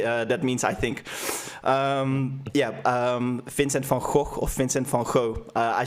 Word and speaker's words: van Gogh: It's funny that I pronounce his name of a Dutch painter with an American. How should you say it? What's the correct way of saying it? Vincent van Gogh, denk ik.